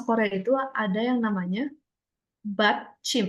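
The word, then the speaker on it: 받침: Lalu di bahasa Korea itu ada yang namanya BAT Chim. Ini panggilannya BAT Chim. B A D C H I M.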